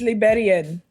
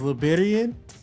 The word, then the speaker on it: Liberienne: aloud ah it's it's Liberian so so it's the accent yeah it's um it's the French spelling and pronunciation of Liberian so yeah most people